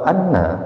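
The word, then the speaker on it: أنّ: Ini katakanlah bahwasanya segumpal ulama mufassirin membacanya dengan sebuah bacaan anna hamzahnya dibaca dengan menggunakan harakat fathah.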